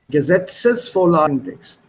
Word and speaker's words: Gesetzesvorlagentext: You missed out Gesetzesvorlagentext. There's an ES here. Gesetzesvorlagentext.